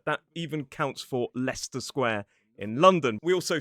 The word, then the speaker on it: Leicester: It looks like Lysestera, but it is Leicester. That even counts for Leicester Square in London.